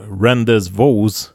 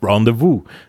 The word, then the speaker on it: rendezvous: You know, like it's not rendezvous, it's rendezvous. Oh yeah.